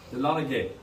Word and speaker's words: Dahlonega: The word Dahlonega is actually a Cherokee Indian word. It's pronounced Dahlonega, which means yellow.